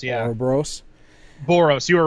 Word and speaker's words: Ouroboros: But it looks like that game, to be honest, but they're calling it, hopefully I can pronounce it right, Ouroboros. Ouroboros, yeah. Ouroboros.